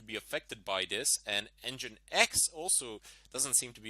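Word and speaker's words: nginx: And engine X also doesn't seem to be affected by this.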